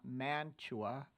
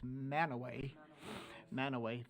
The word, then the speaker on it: Mantua: When you get to Cache County, it's not Mantua, it's Manaway.